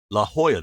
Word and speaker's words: La Jolla: wrong and Californians laugh at me La Jolla La Jolla that's the name of it so it's spelled l-a-j-o-l-l-a so I'm always if you ever